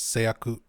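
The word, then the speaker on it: 製薬: Seiyaku would be how you pronounce this.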